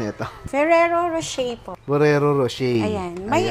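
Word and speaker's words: Ferrero Rocher: Anong pronunciation nito? Ferrero Rochet po.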